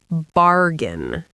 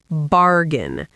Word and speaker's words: bargain: And the pronunciation is bargain. Bargain. The AI in the middle is not pronounced like A, it's just a short I sound.